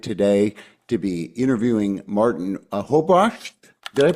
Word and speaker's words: Hobratschk: I'm excited today to be interviewing Martin Hobratschk. Did I pronounce that right? That's a tough one. That's pretty good. Yeah, Hobratschk.